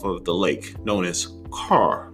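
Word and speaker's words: Kerr: of us off of the lake known as carr like k-e-r-r spelled like i'm sure you were thinking k-e-r-r car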